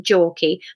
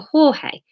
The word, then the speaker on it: Jorge: Sarah had once spent an entire holiday in Barcelona, shuddering every time the reception clerk had to correct her father's pronunciation of his name from Jorky back to Jorge.